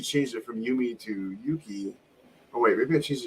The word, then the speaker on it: Yuki: No, I changed it to Yuki.